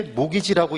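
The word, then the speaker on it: mortgage: 그래서 얘가 바로 뭐라고 읽을 때이 t가 묵음이래 묵음 묵음은 무기라고 소리내는게 아니에요 농담인데 재미가 없나봐 그래서 묵음은 소리를 내지 말라는 거잖아 그래서 얘를 읽을 때 모기지라고 있는 거죠 이게 모기지라고 목이지 그게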